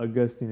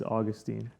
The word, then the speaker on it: Augustine: It doesn't matter what you say, but it's not Augustine, it's Augustine.